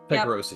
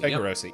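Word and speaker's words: Tycheros: Um, so I actually was thinking also about the the ta taikarosi, how do you say that, Josh? Tyrosi. Tyrosi.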